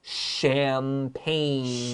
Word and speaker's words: champagne: listen to that pronunciation champagne champagne that g cross it out this is a french word and the ch is an sh let's continue before eating